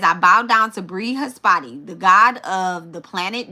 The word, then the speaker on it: Brihaspati: Brihaspati. Brihaspati. Brihaspati. Okay? The Brihaspati. Okay? It says, I bow down to Brihaspati, the god of the planet Jupiter.